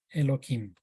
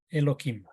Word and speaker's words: Elohim: de esta palabra hebrea, Elohim. La palabra hebrea Elohim se debería pronunciar más suavemente porque aquí hay una letra G, pero nosotros tratamos de